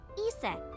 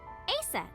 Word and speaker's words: Aset: Horus's mom is named Isis, but in ancient Egyptian, it's pronounced closer to Iset or Aset.